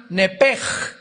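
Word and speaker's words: נֶפֶשׁ: el nepesh, apúntalo ahí, el alma en el hebreo es nepesh, se pronuncia nepej, la CH en hebreo se pronuncia como J, nepesh, murió.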